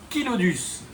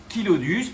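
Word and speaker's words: Chilodus: va trouver en Afrique c'est le kilodus. kilodus parce que kilo ça vient du grec et ça veut dire lèvre et donc voilà on prononce kilodus.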